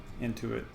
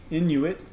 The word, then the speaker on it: Inuit: Intuit, little slip there. Intuit is not right. Inuit, I think, is the way you pronounce that.